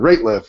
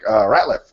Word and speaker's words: Rateliff: And Ratliff is spelled Rateliff, and much to my embarrassment, I mispronounced it when I introduced him on the video to the broadcast. I said Ratliff, and he's like, Ratliff. I'm like, oh, sorry, Ratliff. That's embarrassing.